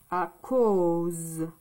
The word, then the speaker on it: à cause: Donc, ici, le O, c'est A et U. Ça fait le son O. À cause.